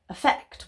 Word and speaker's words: effect: effect with an A effect with an e even I get this